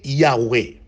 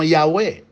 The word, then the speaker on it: Yahweh: Nous parlons de El, Elohim, Adonai et Yahweh.